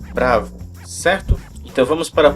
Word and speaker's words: bravo: pronúncia dessa palavra pois algumas pessoas tendem a puxar pronúncia pelo lado inglês da força então às vezes a pessoa pronuncia na fonia bravo ou alguma coisa assim então nesse caso pessoal não é necessário você está voando aqui no brasil você pode pronunciar normalmente pronúncia da língua portuguesa falando apenas bravo certo então vamos para